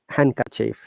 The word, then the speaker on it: handkerchief: pledge garage and that is also not pronounced in the following common words handsome handkerchief sandwich also the d